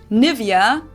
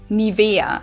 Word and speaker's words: Nivea: English native speakers usually say Nivea. Nivea. In German, we say Nivea.